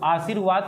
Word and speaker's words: आशीर्वाद: देखिए आशीर्वाद का जब उच्चारण करेंगे तो वाद से पहले रा आएगा, तो वही लिखा है ना, यह रा आधा होता है और यह अपने पीछे वाले वर्ड पर जाकर जुड़ जाता है।